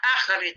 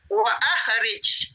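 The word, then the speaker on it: أَخْرِجْ: Bacanya akhrij. Kalau nanti ketemu di Al-Quran kata-kata akhrij, sebelumnya ada wa atau ada kata-kata apapun, a-nya tetap dibaca. Wa akhrij. Wa akhrij. Ada hamzahnya membuktikan bahwa a-nya harus dibaca.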